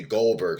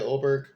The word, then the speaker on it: Goldberg: I mean excuse me Goldberg sorry sorry sometimes I can't pronounce my G's that really say oldberg my wife is dying